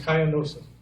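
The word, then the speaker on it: Coyanosa: When we lived in West Texas, in Cayanosa, that's pronounced Cayanosa. And Cayanosa is a little blink of a town.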